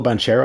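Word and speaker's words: Banchero: i don't even know paulo bonchero i think is how you say his name uh it's a very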